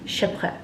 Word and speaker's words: Chypre: Sandals name is Chypre, not sure, but can we just call it Chypre, because I mean I'm American and that's how I'm going to pronounce it, but it's Chypre if I'm not mistaken in French.